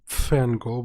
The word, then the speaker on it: PFangirl: Adams, otherwise known as PFangirl with a silent P in front.